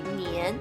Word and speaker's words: 年: This story may also explain why the word year is pronounced Nian in Chinese, and why the celebration of Chinese